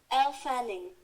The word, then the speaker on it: Elle Fanning: Elle Fanning.